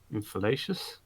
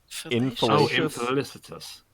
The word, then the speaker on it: infelicitous: Infalacious? Rapscallion of narcissistic values. How the hell do I pronounce the word? Infelicitous. Oh, infelicitous. Yeah. Okay, that's quite different.